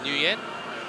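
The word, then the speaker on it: Nguyen: hongan andanan don't forget the American pronunciation for Wang is Newen come on tell me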